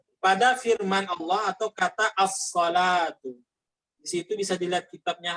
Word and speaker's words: الصلوة: As-salatu. Jadi bacanya as-salatu bukan dibaca as-salwatu.